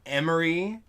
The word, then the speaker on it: Emory: I'd compare them to this band I listen to called Emory, which rhymes with memory.